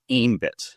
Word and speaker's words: Aembit: I've also heard it pronounced as ambit which is the correct way.